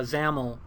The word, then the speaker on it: XAML: other view this uh zaml view that's what that's how you pronounce this xaml zaml um and this is